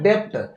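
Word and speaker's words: debt: तो यहां पर हम बी को क्या करेंगे साइलेंट कर देंगे जैसे य ये लिखा हुआ है डेप्ट लेकिन हम इसको पढ़ेंगे डेप यहां पे यहां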